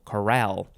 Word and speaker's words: chorale: no e is coral the emphasis for the one that has the e is on the second syllable chorale this is a noun